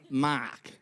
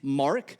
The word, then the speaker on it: Mark: We don't pronounce the R in words. In fact, not only don't we pronounce the R, we swap it for an extra A. So my name is spelled, in America, spelled M-A-A-K, Mark.